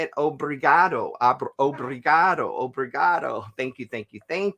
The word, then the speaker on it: Obrigado: Brazil o um how do you say it Obrigado Obrigado Obrigado thank you thank you thank you